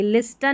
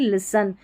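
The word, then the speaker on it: listen: विस्टल नहीं विसल पढ़ेंगे, लिस्टन नहीं लिसन, विस्टल नहीं, यहाँ पर इसको विसल करके पढ़ना है, ठीक है.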